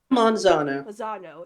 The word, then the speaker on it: Manzano: Manzano, yeah.